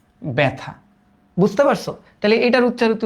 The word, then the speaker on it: ব্যথা: কিন্তু এটা না থেকে যদি একটা অ বা আয়ের মতো থাকে, তবে এটার উচ্চারণ কিন্তু এ হয়, এ। যেমন এটার উচ্চারিত রূপ কিন্তু এরকম, ব্যথা, ব্যথা।